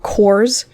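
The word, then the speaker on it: Quarz: carved shapes quartz uh the word derives from the germanic cores just no t cores plenty the elder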